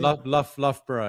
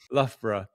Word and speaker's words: Loughborough: Loughborough, how do you say it? Loughborough, yeah. It's like Worcestershire Shores. Yeah, Loughborough.